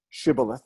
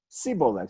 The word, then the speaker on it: Shibboleth: They didn't pronounce a shin right, so vayomerulo. Here, let's look at it in English. They said to him, say Shibboleth, say Shibboleth, but he said Siboleth.